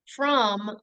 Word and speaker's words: from: But I don't pronounce it the word from, like Tom. I pronounce it from, like thumb.